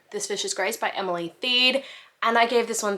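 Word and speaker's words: Emily Thiede: have learned that the author's name is actually pronounced Emily theed so this fish is Grace by Emily theed and I gave this one three and a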